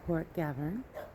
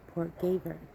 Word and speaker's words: Port Gaverne: When I moved down to Cornwall, it's one of those things that I wanted to make sure I pronounced properly, so I asked the local actual Cornish people, and some of them say Port Gaverne, and some of them say Port Gaverne. So it's up to you really.